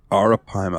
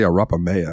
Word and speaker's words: arapaima: Arapaima. I kept want to say Arapamea, and I'm like, that's not right.